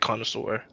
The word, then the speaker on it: Connoisseur: So there's also like the new Judith Carnage, Connoisseur. Yeah, that's how you say it, Connoisseur.